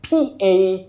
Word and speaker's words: paginate: Now the second word, P-A-G-I-N-A-T-E. You say paginate for that verb, to paginate, when you're giving pages or you're marking pages. To paginate, not paginate, not paginate, and all that. Paginate.